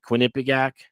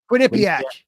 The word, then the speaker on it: Quinnipiac: Maine and how do you I don't even know how you pronounce it. Quinnipic. Quinnipiac.